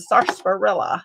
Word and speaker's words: sarsaparilla: So Serenity brought this for Charity in hopes that the sarsaparilla will help. Yes. You love the spring colors. The R is silent.